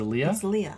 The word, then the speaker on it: Leah: choice yeah this is Leah I thought it was Leia no it's Leah l-e-a-h is Leah you're thinking Leia like l-e-i-a I think you're gonna